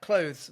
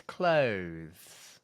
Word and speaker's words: clothes: But clothes more commonly is a noun referring to the things that you clothe yourself with, right? But note that the consonant here is voiced. Okay, so it's clothes.